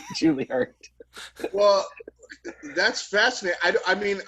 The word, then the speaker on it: Juilliard: I have to quibble with your pronunciation of Juilliard. Juilliard, sorry, Juilliard.